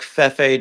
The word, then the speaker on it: Fefe: You say it like Fefe, just kind of like how you say Pepe.